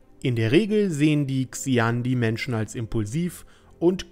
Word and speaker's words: Xi'an: Heute geht es um das Volk und die Rasse der Xian oder Xian. Ich weiß, eigentlich spricht man es auf Englisch so aus, aber ich dachte mir, auf Deutsch geht auch Xian.